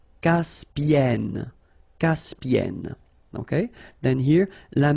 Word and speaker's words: Caspienne: So it does open the sound here. So it's e. Caspienne.